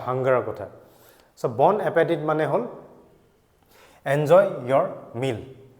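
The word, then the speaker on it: bon appétit: খোৱা হেতুকে আমি কওঁ bon appetit t to silent থাকে pronunciation next bon voyage bon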